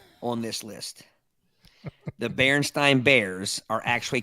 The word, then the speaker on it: Berenstain: See, I thought it was spelled Stein, but pronounced Stain. I'd always heard of Berenstain. Bears. I heard Berenstein or Bernstein.